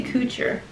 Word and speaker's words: Couture: these oh juicy uh couture juicy coocher some people pronounce it couture juicy couture juicy coocher um juicy couture los